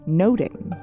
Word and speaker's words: nothing: The old pronunciation of nothing was actually noting, and this play involves a lot of observing, perceiving, and overhearing.